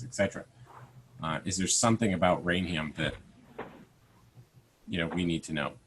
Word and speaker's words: Raynham: It's Raynham, yeah. Raynham.